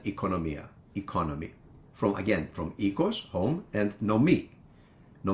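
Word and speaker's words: οίκος: teach is the word for home which is ecos or Oikos for those of you that study ancient Greek through the erasmine pronunciation although modern Greeks also use the word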